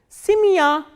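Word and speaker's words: семья: The same way, when ye is in unstressed position, it is pronounced as e, like in simia, simia. As you can see, this ya is stressed and ye is unstressed. That is why the pronunciation of this ye is e, not ye.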